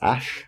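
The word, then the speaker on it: Æ: the I a weird symbol is pronounced ash okay ash and the what is it what is it something twelve a 12 a - to the a - 12 at the end is just pronounced a 12 so it's X a sh a 12 that's it that's its name can you tell me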